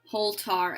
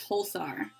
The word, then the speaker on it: Holtar: So, Holtar. Okay, so yeah, that's a really important one because I read that as Holthar. So if that's Holtar, I can see how that pronunciation is also is valid.